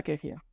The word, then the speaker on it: Kejia: año en breve hacer un año Claudia fulla queia te vamos a explicar cómo se pronuncia pron tú Qué significa qué significa es